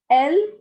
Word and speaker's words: elle: The pronunciation is il for he and elle for she.